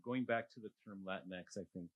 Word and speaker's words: Latinx: College Art Association, and he said the correct pronunciation was Latinx.